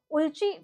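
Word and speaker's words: Ulchi: name of the exercise is as it is pronounced Uli Freedom Shield right Uli Freedom Shield Now location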